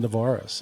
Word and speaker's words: Nevares: Today we have Benjamin Dvaris. Is that is that how I pronounce that correctly?